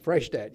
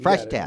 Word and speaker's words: Freishtat: Freishtat. Freishtat.